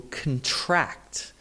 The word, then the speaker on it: contract: They have completely different meanings simply because that stress shifted from the first syllable to the second syllable, okay?